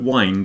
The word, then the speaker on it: wind: currents in the air the wind is blowing but wind is to turn something in a circular MO like you wind up a clock for example well in